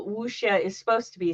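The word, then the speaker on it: 武侠: See, I've been just pronouncing it wuxia, which I know is wrong, but the correct pronunciation is wuxia.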